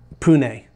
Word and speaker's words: Pune: east of uh uh pune um it's spelled p-u-n-e not poon it's pune um and so it's about